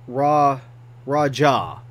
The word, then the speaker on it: Raja: from Google to YouTube, everything kept saying Raja. As in pronouncing the J. I didn't think you pronounced the J on this one, but I guess you do.